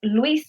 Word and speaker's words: Louis: So he is actually at 133 Luis Street, como lo decimos nosotros, but it's spelled Louis.